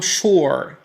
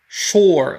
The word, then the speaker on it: sure: وأحيانا قد تكون جد متأكد من شخص من شيء ما فتقول I'm sure. sure لاحظ حرف الشين في اللغة العربية sure وليس U. لا تنطق بالفرنسية sur.